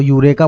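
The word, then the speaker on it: Eureka: इसको यूरेका बोलते हैं। ईसा आपका साइलेंट रहता है।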